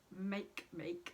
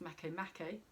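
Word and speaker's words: Makemake: is also semi-sex style to the dwarf planet make make or make it sorry make me it's a written make make but it's pronounced mako makkay who's at six degrees 18 minutes in libra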